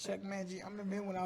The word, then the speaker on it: Chuck Mangione: And I saw somebody make that mistake, and I'm like, how you don't know how to pronounce his name? It's Chuck Mangione.